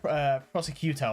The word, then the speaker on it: prosciutto: You wouldn't think it's pronounced prosciutto. Like, you just look at that and that doesn't look like... I would say like prosciutto or something like that. But no, prosciutto.